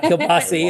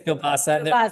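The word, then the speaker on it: kiełbasa: It's not Kilbasi, it's Kilbasa.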